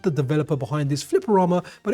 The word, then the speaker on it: Flipperama: So, I called the developer behind this Flipperama, but they said it rhymes with Futurama. So, it must be Flapperama.